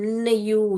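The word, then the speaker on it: knew: आता है तो सा वो आवाज नहीं निकालता अपना स्वर नहीं निकालता है जो है एन से ही पढ़ना पड़ेगा इसीलिए इसको हम न यू न्यू करके पढ़ते हैं हम ओके बेटा तो ये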